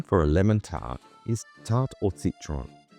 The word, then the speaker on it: tarte au citron: In French, the name for a lemon tart is tart or citron, pronounced tart, t a r t e or a